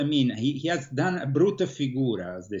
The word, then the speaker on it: brutta figura: He has done a brutta figura, as they say in Italy, a very bad...